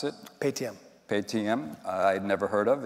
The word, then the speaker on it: Paytm: How do you pronounce it? Paytm.